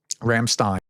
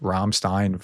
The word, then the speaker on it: Ramstein: Um Rammstein, excuse me. It's like Einstein.